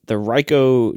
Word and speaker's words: Ricoh: Gruber's fault, because he had gotten recently the Ricoh GR3X. And Gruber's been shooting Ricoh GR cameras forever. Is that how you pronounce it?